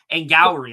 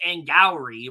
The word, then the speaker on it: Angourie: So yeah, I'm Well, not very high on Angourie. I've been pronouncing her name wrong. It's Angourie Rice and apparently. Glory, right.